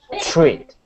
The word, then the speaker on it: treat: you a treat treat treat yeah that's it that's it treat it's it's not you don't want to push into that CH okay you don't want to push hard okay it's really quick treat treat treat great